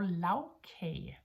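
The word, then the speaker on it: lagkage: on what we call lavkage, which is, lavkage is the compound word of lag and kage. And when we put lag and kage together, the lag changes its pronunciation into lavkage, which is, it means a layer, yeah?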